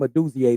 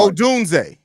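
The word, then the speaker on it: Odunze: We're actually, the way we speak about these kids, like, we expect Rome Duzier to come in here and get close to 1,000 yards. Oh, Dunze. Stop adding a syllable, bro.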